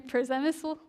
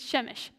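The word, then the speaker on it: Przemyśl: I'm hearing Przemysl, stuff like that. Okay, It's Shemesh.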